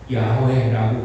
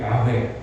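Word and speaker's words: YHWH: 연구하는 학자들이 연구를 해보니까 여호와라 이렇게 우리 성경에는 이제 번역이 되어 있지만 더 정확하게 말하면 야훼라고 그렇게 발음돼야 되는 것이다. 이렇게 이제 연구가 돼가지고 이제 야훼 이렇게 읽게 되었다고 하는 것입니다.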